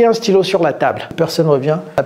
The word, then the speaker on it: stylos: Il n'y a pas de stylos. Stylos. S à la fin de stylo en français. on ne prononce jamais les S.